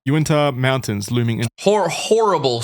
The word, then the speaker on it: Uinta: Yeah, Uinta. Uinta Mountains looming in. Horrible spelling for how it's pronounced.